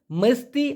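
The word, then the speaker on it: mesti: কি জানতে চাই ভাইজান মূলত শব্দটির সঠিক উচ্চারণ হবে মালয়েশিয়ান ভাষায় মেস্তি অথবা হারুস মেস্তি অথবা হারুস এই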